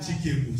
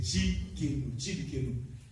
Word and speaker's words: Tsidkenu: Mais ce n'est pas le Tsidkenu, c'est Tsidkenu. Donc ça écrit T-S-I-D-K-N-O-U.